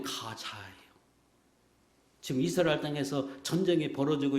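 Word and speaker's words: Gaza: 번역할 때 가사라고 번역했는데 그 영어 발음으로 하면 가자요 지금 이스라엘 땅에서 전쟁이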